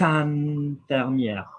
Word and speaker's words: infirmière: So, elle est infirmière. Look at IN. What did I say? Like wine, IN. infirmière. So like vin, infirmière, we're pronouncing the R because there is an E after it.